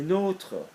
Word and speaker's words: nôtres: Our ones, les nôtres, same with votre, okay. So that's got to sound different than notre. Okay, it's a longer sound.